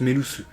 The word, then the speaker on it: Melusu: a pu voir que Melusu c'était l'anagramme de Sulume. C'est d'ailleurs pour ça qu'on le prononce Melusu.